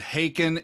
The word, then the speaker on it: Haken: always been told it's it's like bacon if you know bacon then you know haken and and you all